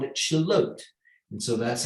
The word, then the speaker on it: Shallotte: It in itself is a mispronunciation of Charlotte. So the Shallotte River was operated by a Frenchman, and the Frenchman called it Shallotte.